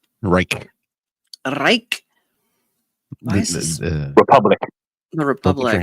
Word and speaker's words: Reich: Robert rch R re how do you say his name um re Wright thank you Reich Reich Republic the Republic